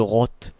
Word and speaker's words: Rot: Enfin je vais le prononcer à l'accent sud-ouest. Hein, le rot. Voilà, c'est comme rose. Je vais pas dire ro, je vais dire rot.